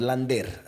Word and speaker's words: Lander: Y tenemos a Tomás Lander, así lo pronuncian en Venezuela.